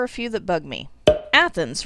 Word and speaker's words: Athens: few that bug me athens right as in greece that would make too much sense this town wants everyone to inexplicably use a long a sound so they say it's athens there's also a new